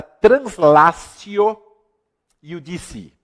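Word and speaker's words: translatio iudicii: E um detalhe importantíssimo, meus queridos amigos, não se esqueçam da chamada translatio iudici. Translatio, né, com T se escreve, se pronuncia translatio, iudici, com 2 Is no final.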